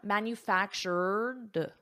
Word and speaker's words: manufactured: I have my R, manufactured, and then I add a soft D, manufactured.